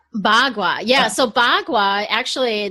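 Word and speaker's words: Bagua: showed that card up well how do you pronounce it again ba kua ba gua yeah so ba gua actually the word ba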